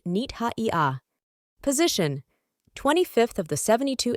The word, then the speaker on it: Nith-Haiah: Cosmic ID card name pronounced nita.